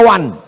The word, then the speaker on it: one: One dibaca wan.